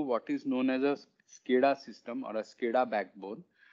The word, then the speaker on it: SCADA: But the way it's pronounced is SCADA.